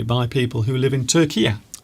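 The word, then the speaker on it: Türkiye: by the way, we've got to say, we can't say Turkey, we've got to say Turkey. Turkiya.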